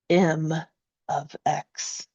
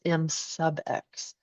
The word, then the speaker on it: M(x): V of X and M of X functions for this beam. Now, when you pronounce these out loud, right, please don't call this V sub X and please don't call this M sub X.